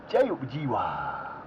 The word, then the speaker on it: Jiwa: I love that name, and that's exactly how they said it. I put it on the Google Trend, how to say it. You know, you ask Google to tell you how you say something. And I put it on there, and it said exactly like that.